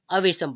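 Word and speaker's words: awesome: करें सबसे पहले तो इसका जो उच्चारण होगा वो क्या होगा वेशम क्या होगा अवेसम पढ़ेंगे ठीक है अवेसम क्या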